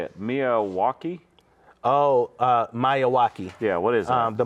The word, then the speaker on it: Miyawaki: Oh, Miyawaki.